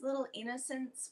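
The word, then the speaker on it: Little Innoscents: The favorite brand we have for sunscreen is Little Innocence, which is spelled INNOSCENTS. Little Innocence.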